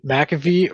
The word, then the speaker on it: McAfee: I have Is always it McAfee or it's McAfee, how do you but say it?